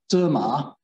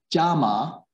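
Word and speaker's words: 纸马: So I said before, in Mandarin Chinese, this type of print is called a paper horse, which is derma, but the local accent pronounces it jama, which in Mandarin sounds as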